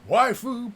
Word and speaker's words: waifu: Waifu, pronounced waifu, is basically a hot anime girl that you like.